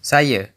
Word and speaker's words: saya: Saya, meaning I, is pronounced, saya, and pertama, meaning first, is pronounced.